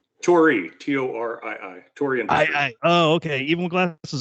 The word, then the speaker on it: Torii: it as well and he's the co-founder of toro industries is that did i pronounce that right tori t-o-r-i-i oh okay even glasses on i still